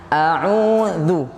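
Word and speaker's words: أعوذ: Jadi bacanya a'udzu. Yang buat susah itu cuman manyung-manyung itu. A'udzu.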